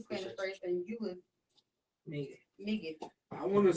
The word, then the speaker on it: Migue: How you pronounce it? Migue.